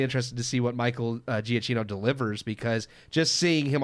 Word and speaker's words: Giacchino: Yeah, I'm just gonna say Michael Giacchino. I don't know. I'm pronouncing it in the Americanized way. Exactly, Giacchino.